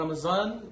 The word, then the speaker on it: رمضان: رمضان زے کی آواز نہیں آنی چاہیے، زال میں، زے میں، ضاد میں، اور اسی طرح سے